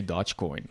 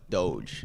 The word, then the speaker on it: Dogecoin: correctly well i know some people say dodge coin like no it's doge it's donut okay um